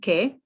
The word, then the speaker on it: che: who and what ki ke you use the silent h so the h doesn't have a sound of its own but this makes it key or ke ke right just like